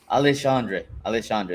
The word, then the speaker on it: Alexandre: Alexandre, that's how you pronounce it.